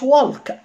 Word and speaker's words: walk: walk ما اسمهاش walk، لان هنا ال ال ما فيهاش ساوند، ال ال مع ايه ادت ساوند او.